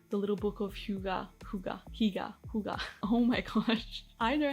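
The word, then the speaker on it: hygge: And it was books like The Little Book of Huga. Oh my gosh. I know how to say this word. I've practiced it so many times. Huga.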